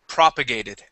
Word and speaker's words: propagated: okay um uh next new word is propagated okay with the stress at the very beginning of the word propagated try that propagated okay